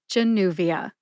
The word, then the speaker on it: Januvia: and you get Genia emphasize new see if you can hear the emphasis when I say it again Januvia I got my information